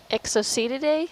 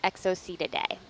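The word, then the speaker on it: Exocoetidae: up as I go EXO see today I would say EXO see today okay EXO see today it is so there you go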